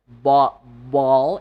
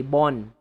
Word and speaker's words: ball: For example, ball, instead of saying ball, they say bon. I want to play with my bon. You don't say bon. Okay, don't say bon.